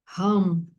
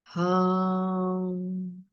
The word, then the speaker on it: Ham: chakra, que se chama, que se pronuncia Ham, Ham, H-A-M, Ham, Ham.